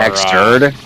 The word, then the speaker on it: Xrd: No, that was XRD and all the others are Xturd. Xturd yeah. is how you pronounce it.